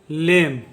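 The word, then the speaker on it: lame: इसी तरह से एल का उच्चारण हम लोग करते हैं ल, ए का उच्चारण होगा ए, एम का उच्चारण होगा म, और ई का कोई उच्चारण नहीं होगा, तो इसे हम लोग पढ़ेंगे लेम।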